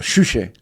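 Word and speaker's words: Juche: Eh, muchos dirán en el contexto norcoreano, por ejemplo, es realmente el gobierno norcoreano shushe, que se pronuncia así, comunista.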